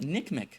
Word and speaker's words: NCMEC: guys cor is that I've been pronouncing the acronym for the NCM ncmec in their business they just call it Nick Mii the other correction I